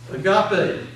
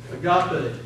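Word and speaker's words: ἀγάπη: Just take the letters and pronounce them. And most times in the Greek language, a word is pronounced phonetically correct. Just pronounce it the way it's written. Agape.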